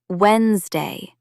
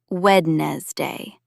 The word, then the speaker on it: Wednesday: Notice the first D is silent. It's pronounced Wednesday, not Wednesday.